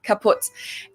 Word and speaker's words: kaputt: We spell it with 2 T's in Germany, but we pronounce it the same way, Kaput.